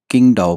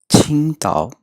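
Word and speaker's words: 青岛: अक्सर दोस्त इसको किंगडाओ पढ़ते हैं, किंगडाओ, लेकिन असल में इसकी प्रोनाउंसिएशन है छिंगताओ, छिंगताओ, छिंगताओ।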